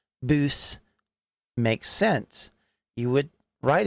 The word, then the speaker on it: bws: Welsh is pronouncing things with the w being an ooh sound typically boo makes sense you would